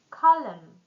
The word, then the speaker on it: column: Silent N. Now autumn. Column.